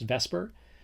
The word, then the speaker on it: VSEPR: pair repulsion theory it's abbreviated vs epr sometimes pronounced vesper and it's pretty much what it sounds like